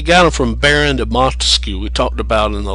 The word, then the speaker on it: Montesquieu: it's not academic think of monta as money money skews they mispronounce it grossly money skew and they think